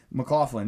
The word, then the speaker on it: McLaughlin: McLaughlin, yeah, that's it.